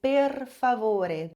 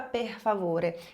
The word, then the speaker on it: per favore: Esse R em italiano sempre vai ser vibrante. Então você vai dizer per favore. Nunca per favore.